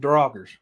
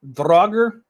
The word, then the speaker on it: Draugr: And this is one of the oldest reports in the Norse reign of encountering Draugrs. Now, it's either Draugr, Draugr, or Dragi. There's a couple different pronunciations with this.